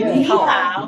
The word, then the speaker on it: 你好: 你好，你好， Okay, ni hao.